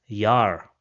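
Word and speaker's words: Jahr: So we will pronounce it as Yar.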